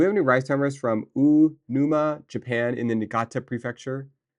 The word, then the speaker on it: Uonuma: Um, do we have any rice farmers from Unuma, Japan, in the Niigata prefecture? U O O Uonuma, Niigata.